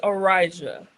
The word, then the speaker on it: Arysia: It's Arysia.